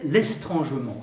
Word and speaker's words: estrangement: Troisième temps de mon propos, je l'appelle l'estrangement. C'est un mot que vous ne connaissez pas en principe. Ça s'écrit E-S-T-R-A-N-G-E-M-E-N-T. C'est comme l'adverbe étrangement, mais avec un S en plus.